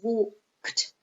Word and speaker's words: walked: I don't understand so for example walk the infinitive has one syllable walk past simple has one syllable is walked saying would arrive as two syllables arrived arrived and the past simple has two syllables not arrived at arrived so even for example if you pronounce everything like walked arrived it's okay the important thing is do not add a syllable okay so it's walk